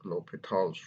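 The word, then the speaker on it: L'Hôpital: To do so, we use a method called lHopitals rule. It is usually written in text as with an S, but it is pronounced lHopital with a silent H.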